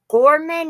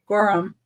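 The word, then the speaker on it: Gorham: Gorman or Goreham. Gorum.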